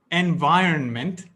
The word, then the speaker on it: environment: how to pronounce it it's pronounced environment not environment not environment environment by earn meant environment here's another one we're